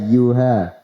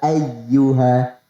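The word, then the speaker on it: يا أيها: yatch you alladziina kafaruu suaranya seperti diseret ke huruf alif lah jelas ya ya Yuha harusnya huruf hamzah hanya diucapkan dengan jelas dibedakan antara Alif dan hamzahnya yang benar seperti ini ya ayyuha ya ayyuha itu yang kedua kemudian yang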